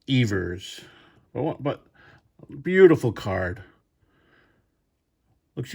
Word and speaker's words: Evers: and once again I think I called him Johnny Evers the actual pronunciation of his name is Johnny Evers well but beautiful card